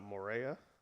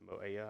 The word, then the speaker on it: Moea: They are down to Gaia here, so they will be starting Salota Morea, no R in there. So Moea, I believe is how you say that.